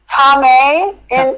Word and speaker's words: Thomai: And I was going to ask you how to pronounce your name. Tom in for for English speakers, Tom.